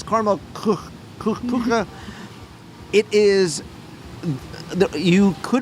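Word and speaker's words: Karamell-Küche: I keep calling it Caramel Coochie. I know that's not how it's pronounced. It's Caramel Kucha.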